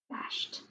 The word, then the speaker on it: bashed: you hear or id bashed bashed i hear the t so over here i'm going to write bash and i hear that t but it's really spelled with an ed so go ahead and